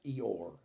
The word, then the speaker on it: Io: a Supreme Being named spelled IO but it's pronounced eore these are a few